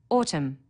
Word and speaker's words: autumn: needs a capital letter Autumn a silent n on the end through one of the